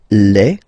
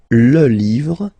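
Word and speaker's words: les: just write leave and then you put S at the end but then you don't pronounce it so it's quite interesting uh in this example here because if you listen carefully Le so the only way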